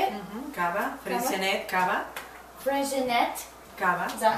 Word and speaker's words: Freixenet: Cava, Freixenet, Cava. Freixenet. Cava. Is that how, did I say it right? Freixenet.